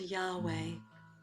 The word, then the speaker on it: Yahweh: In biblical times, the Vav was like a W sound, so the Yud He Wah He. And he can be called Yahweh.